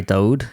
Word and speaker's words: Daud: of do or D I'm going to say do cuz that's how it's pronounced it Di nothing against